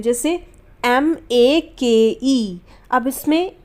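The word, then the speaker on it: make: ए हो रहा है और एक और चीज इसमें आखिर में ए ए रहा है लेकिन हम इसका इस्तेमाल नहीं करेंगे यानी की ये नहीं बोला जाएगा हम मेक बोलते हैं मेक के तो नहीं बोल रहे ना तो यहां पर साइलेंट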